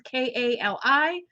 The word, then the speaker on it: Kali: Mary, Mother Mary, Isis, Kali, which is Kali, or Durga, Durga.